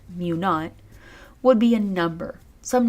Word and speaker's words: mu naught: Now, when you're writing these hypotheses, what's written as mu sub 0, pronounced mu naught, would be a number.